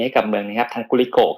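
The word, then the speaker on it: Glico: ครับเป็น จี้ Li co ทำไม เรา อ่าน ว่า กูลิโกะ ยิง เป็น ตรีโกะ มาก กว่า นะ ซึ่ง มัน แถม มา จาก คำ ว่า ไกลโคเจน คือ Gly cogen มัน ก็ มัน ก็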